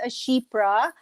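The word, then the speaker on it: chypre: and you pronounce it ashipra because it actually originated from the country cyprus so this one the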